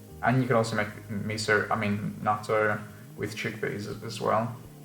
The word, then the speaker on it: natto: Now, natto or natto. Natto. That's how you have to pronounce it apparently.